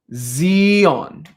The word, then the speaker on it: Sion: imnus everyone says good so it's not in in zeon so it's a z sounds a z sound zeon i'll say it again